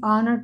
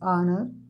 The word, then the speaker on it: honor: number 10 it is honor to meet you de friends the word such as honor or is pronounced with silent h so use Yan instead